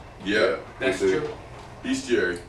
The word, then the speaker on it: Bestiary: Bestiary. Bestiary. Bestiary, because it's spelled best.